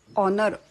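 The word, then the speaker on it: honour: वापरण्यात येतं तसंच आहे ऑनर ऑनर म्हणजे सन्मान एच ओ एन ओ यु आर असं त्याचं स्पेलिंग असलं तरी त्यातला एच सायलेंट आहे त्यामुळे ऑनर ओ पासन उच्चार होत असल्यामुळे अन ऑनर असं म्हणतात तर हे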